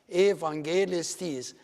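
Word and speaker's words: εὐαγγελιστής: So the first syllable is eve, and then angelistis, evangelistis, which means evangelist. Evangelistis. And this is pronounced the V. Why? Because it's preceded by the E letter, and then evangelistis.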